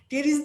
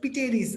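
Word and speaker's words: Pteris: টেরিস দিয়ে ভাইয়া বুঝাইছি হচ্ছে পিটেরিস, অথবা তোমাদের পরিচিত টেরিস। ঠিক আছে, এটাকে বলে। পি তো আর উচ্চারণ হবে না, উচ্চারণ হবে কি? টেরিস।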